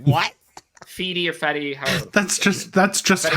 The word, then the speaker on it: Fede: But Freddie. Freddie? There's no There's no Freddie R in Alvarez. it. There's no R. It's Ah. Yeah, there F-E-D-E.